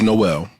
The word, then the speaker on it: JKMN: The pronunciation was Noel because it had no L.